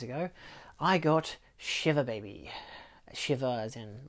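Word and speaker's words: Shiva: I got shiver baby Shivers and like it's a Jewish wake so it's it's pronounced like shiver like you're cold I learned that for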